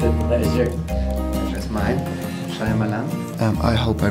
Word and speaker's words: Shyamalan: thank you it's a pleasure is mine shalan um I hope I pronounce it right shamalan yeah the Y is you were very close though sh shamalan shamalan Nonito I'm very very a little bit angry